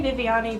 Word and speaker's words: Viviani: they read it, because it is spelled like Vivian. But yeah, so Viviani, that's how you pronounce my name.